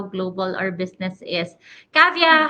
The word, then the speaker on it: Kavya: that I'm going to meet you am I pronouncing your name right yes you're right cavia okay just to for the benefits of everyone